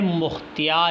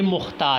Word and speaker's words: مختار: Video شروع کرتے ہیں۔ مختیار کلمہ ہے مختیار، یعنی جس کو لکھنا اس طرح لکھنا یا مختیار کے ساتھ پڑھنا، اس کا تلفظ کرنا، یہ کیا ہے؟ غلط ہے۔ اصل میں یہ مختار ہے۔ اس طرح اگر ہم